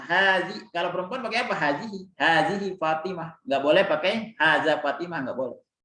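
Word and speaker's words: هذه: Hazihi kutubun. Ikutin, hazani. Ya, jadi ha ini bacanya semuanya panjang ya. Mau hazihi, mau hazani, haza semuanya hanya dibaca panjang. Walaupun tulisannya pendek, tapi dibaca panjang.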